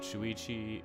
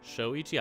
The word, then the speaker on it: Shoichi: Last time we did Shuichi, or Shoichi as I've been told now. It's Shoichi. I've been saying my best boy's name wrong all this time.